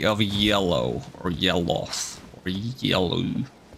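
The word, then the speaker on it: Yelough: Eye of Yellow, or Yelloth, or Yellow. There's a history of like Souls games having names that end with O-U-G-H and is pronounced Oth. Like Goth and Smoth and maybe that one, Yelloth.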